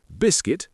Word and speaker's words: biscuit: We also have island with a silent S, biscuit with a silent U, receipt with a silent P, and muscle with a silent C.